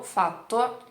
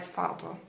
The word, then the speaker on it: fatto: A correta è con B duplo. Abbiamo. Noi abbiamo fatto una cosa. Fatto, per esempio, fatto, não é fato.